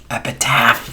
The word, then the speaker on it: epitaph: the easter bunny's motives she said it right epitaph uh greetings and salutations